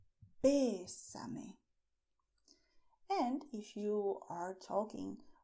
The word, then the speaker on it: bésame: Bésame, stressing the e, bésame.